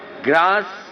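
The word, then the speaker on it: Grasse: जिस तरीके से फ्रांस में ग्रास या ग्रासे कहे, वो वहां की फ्रेंच कैपिटल, परफ्यूम कैपिटल मानी जाती है। फ्रांस में परफ्यूम कैपिटल अगर है कोई, तो कोई ग्रासे कहता है, कोई ग्रास कहता है।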